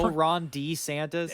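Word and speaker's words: Ron DeSantis: And that is how you Ron D Santis. That is how you pronounce his name, by the way. He said it. He's let everybody know his name is pronounced Ron D. Santis.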